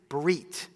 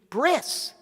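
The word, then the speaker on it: ברית: between us and God the Hebrew word for contract is breit right or is we might know in a more ashkanazi pronunciation bris what is a bris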